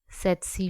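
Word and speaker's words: tsetse: है जो कि है सेसी फ्लाई इसमें जो टी होता है व साइलेंट होता है सेसी फ्लाई जो है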